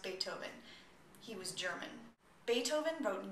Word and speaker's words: Beethoven: be about Beethoven Beethoven I know it looks like it should be pronounced be oven but it's actually pronounced Beethoven he was German Beethoven